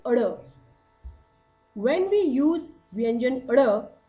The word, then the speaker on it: ढ़: Children, while pronouncing vyanjan ada, we need to be careful how to pronounce it. It is not da, but it is ada.